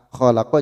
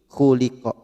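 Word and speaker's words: خلق: Yang seharusnya fathah malah menjadi dhamma kasrah fathah. Khalaqa jadi khuliqa.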